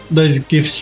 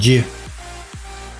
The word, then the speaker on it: GIF: Well, I believe the guy that created it said you should pronounce it with like a J, GIF.